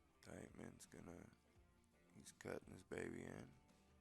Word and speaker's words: Deitchman: Mike Deitchman's son said, put some respect on his name and say it right. So it is Deitchman.